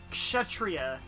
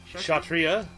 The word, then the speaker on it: kshatriya: love it kiss you kshatriya kshatriya sorry yeah cuz I think maybe the K is silent kshatriya shell shocker yes yes